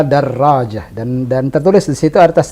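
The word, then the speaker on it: درجة: memang begitu standar pembacaannya darojah pakai tasdid hal ini tidak benar kalau ada Rodja Hai yang benar adalah darojah dan dan tertulis disitu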